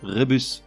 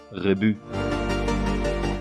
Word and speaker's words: rébus: cette fois à l'envers le S final de rébus n'est pas muet il faudrait donc le prononcer rébus même si le Robert encore lui te fait une fleur à admettre la prononciation rébus carrousel paume pensa dans